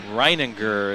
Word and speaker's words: Reininger: Reininger is how PA announcer Roger Greckney just pronounced it.